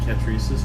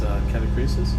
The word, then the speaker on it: Catachresis: I'm calling it Catachresis. I have no idea why. It's Catachresis.